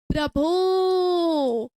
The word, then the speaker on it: प्रभो: लेकिन अगर मैं आपसे बोलूंगी प्रभो, तो क्या समय लगेगा क्या, जी हाँ बिल्कुल लगेगा। यहाँ पर ओ का उच्चारण थोड़ा खींच कर लंबा करके किया गया है।